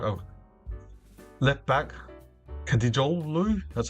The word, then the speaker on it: Eren Dinkçi: Um and they got like a left back Eren Dinkçi, that's how you pronounce it, plays for Brighton in the English Premier League.